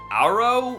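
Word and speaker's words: Agro: your unresponsive mirror is named aggro pronounced arrow for some reason which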